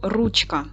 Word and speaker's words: ручка: Наголос падає на перший склад.